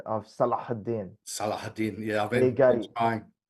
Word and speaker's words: Salahuddin: When they do unify under the Ottoman Empire or under Saladin beforehand, they're pretty hard to beat. But you have a great pronunciation of Salahuddin.